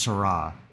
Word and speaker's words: Seurat: It's spelled Seurat, but it's pronounced Seurat.